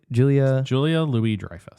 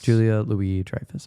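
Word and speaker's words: Julia Louis-Dreyfus: Julia Julia Louie Drifus. Julia Louie Drifus.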